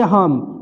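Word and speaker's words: hymn: फिर यहाँ पे इसको पढ़ेंगे हम, ये एम के बाद एन है तो एन को नहीं पढ़ना है, इसको सीधे हम पढ़ेंगे, तो हम माने होता है भजन हमद।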